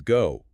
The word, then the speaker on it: go: Consequently, a non-native speaker might look at the English word go and subconsciously map it to their native static O sound. They say go, keeping their jaw and lips frozen. But the English map demands travel. The word is go. Failing to physically close the lips into that tight oo shape at the very end of